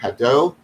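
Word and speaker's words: Hadot: uh called what is ancient philosophy by pierre haddow hedo is spelled h a d o t but this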